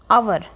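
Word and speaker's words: hour: it takes them an आवर अब यहां पर यह आप ऐसे मत सोच लेना यह है की साउंड दे र है नहीं एच इसके अंदर सा साइलेंट है फिर देखिए ओ आ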